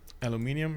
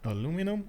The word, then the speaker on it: aluminium: And he has aluminium if he wants. Oh, that's another big question, by the way. Aluminum or aluminium?